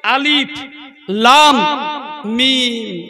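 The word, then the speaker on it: الم: এটা করা হচ্ছে আলহামদু কিন্তু ওখানে আছে কি আলিফ লাম মিম ওটাই উচ্চারণ করা হচ্ছে আলিফ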